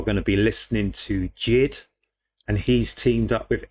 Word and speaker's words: JID: And the last time I heard JID, and potentially the only time I've heard JID before, and I think it's pronounced JID, JID, was on the track Fuel, and that was on Eminem's album.